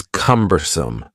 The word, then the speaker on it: cumbersome: The next word is cumbersome. The word cumbersome has three syllables and the stress is on the first syllable.